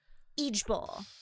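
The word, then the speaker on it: IJBOL: Eej Bowl. Eej But you Bowl. don't spell it. You say Eej Bowl.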